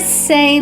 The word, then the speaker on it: sei: The sei whale, that's spelled S-E-I.